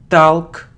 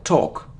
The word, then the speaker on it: talk: it like develop development it isn't talc or it isn't talk not to talk or it's alone sound or without L talk it isn't one it's